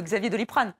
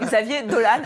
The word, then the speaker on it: Xavier Dolan: alors mais assure-moi il veut pas qu'on l'appelle Xavier doliprane non c'était pas ça d'accord ok donc Xavier dolane à 25 ans on en est sûr et